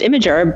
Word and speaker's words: Imgur: still say GIF it's like I say it's pronounced imager but people still say imer or maybe I'm just trolling that's true who